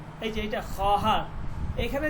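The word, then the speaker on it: خواهر: এটা মনে রাখবেন বাচ্চে বাচ্চে ঠিক আছে এরপরে খহার এইযে এটা খহার এখানে যে ওয়াওটা এটা লেখার মধ্যে আসবে কিন্তু উচ্চারণ হবে না খহার খহার মানে হচ্ছে বোন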